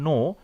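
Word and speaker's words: know: silent letters, অর্থাৎ যেমন ধরো নো, কে নো ডাব্লিউ, এখানে দেখো নো, কে এই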